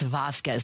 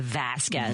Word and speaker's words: Vasquez: It's Vasquez, not Vasquez. Vasquez.